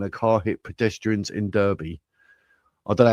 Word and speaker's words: Derby: Derby. Derby. It's an A. Derby.